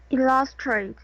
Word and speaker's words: illustrate: Illustrate. Illustrate. Illustrate. Illustrate. The stress is in illustrate.